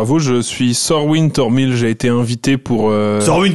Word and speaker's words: Thormyl: Comme ça se prononce avec un H et un Y.